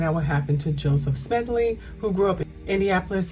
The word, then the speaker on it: Smedley: to do this video, the first time I mispronounced his last name. I was saying Smedley, his last name was Smedley.